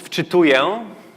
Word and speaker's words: wczytuję: So loading in Polish is wczytuję.